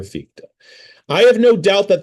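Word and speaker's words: Fichte: Let me now turn to Fika. Again the name is spelled f i c h t the philosopher ficta.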